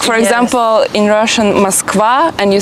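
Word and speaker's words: Москва: The only thing that changes is that usually in Russian it goes for the last part of the word and in Serbian in the first syllable. Like for example, in Russian Moskva and you say Moskva.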